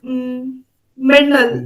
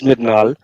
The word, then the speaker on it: Midnal: So, would you like to just brief yourself in few words, starting with Mernal, right? Midnal. Mernal, okay, Mernal. Yeah, sorry. Actually, my name is Midnal. So everybody used to pronounce it wrongly, so I didn't mind that.